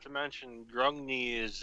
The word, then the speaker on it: Grungni: So are you one of the few Durden or Cardoon that worships Grungi, or however the hell you say his name? Grungni. Grungni is what they all say.